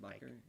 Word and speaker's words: Bakker: Bakker.